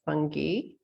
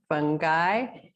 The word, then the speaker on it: fungi: You can say it fungi, fungi. There's 3 ways you can say it. Usually it gives you the Italian version of how to say it.